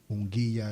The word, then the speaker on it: Munguia: And I'm glad you said that because I needed help pronouncing that name. Yeah, DAZN. No, What? the boxer's name. Oh, Yeah. Jamie. Munguia.